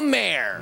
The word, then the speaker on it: Maher: or even think please welcome the wonderful bill Mayer how wonderful you're here thank you this is exciting thank you it's pronounced Mar do you know that film Bill oh my